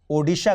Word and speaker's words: ओड़ीशा: जरिए उड़ीसा को बदलकर ओड़ीशा कर दिया 2011 में राज्य की आधिकारिक भाषा ओड़िया में राज्य के नाम का यही उच्चारण है लोगों के माने तो